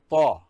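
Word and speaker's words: ط: In Dad, Da sound should be hard, and it also should be pronounced as if the mouth is filled with something. Then we go to Ta.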